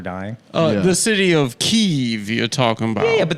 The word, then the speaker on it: Kyiv: I just wanted you And to of feel- course, the correct pronunciation is Kyiv.